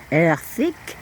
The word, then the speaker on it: Erddig: Erddig, earthig, earthig. That's how Erddig is pronounced in Welsh, Britannic.